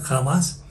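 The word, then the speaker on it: חמס: paréntesis la baraja más no no es jamás como en español pero si se pronuncia jamás es que comúnmente se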